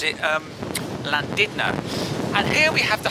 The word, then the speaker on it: Llandudno: spelt land under but the locals often shall pronounce it Llandudno and here we have the Holy Trinity Church